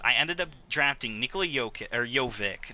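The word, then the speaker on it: Jokić: ended up drafting nichola yoke or jovic not yokitch obviously mojave king and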